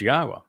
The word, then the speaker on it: Yahweh: person to tell you that Yahweh's name is pronounced Yahweh, and explained exactly why and proved it.